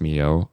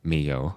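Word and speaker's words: Milhaud: So Claude Debutcy, Maurice Rell, Far Darius Mio.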